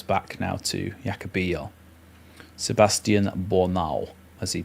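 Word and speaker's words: Bornauw: Sebastian Boral as he pronounced his name for us in the uh preseason um pronunciations videos.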